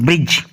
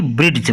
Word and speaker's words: bridge: देखो first example है हमारे पास BRIDGE ब्रिज। अब क्या है जी से पहले डी आया ना तो इसलिए हम इसको ब्रिज पढ़ेंगे ना कि ब्रिड्ज पढ़ेंगे।